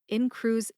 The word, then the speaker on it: Incruse: Emphasize in for Incruse and lip for Ellipta.